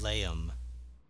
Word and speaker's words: Eleum: Eleum. That's how it's pronounced.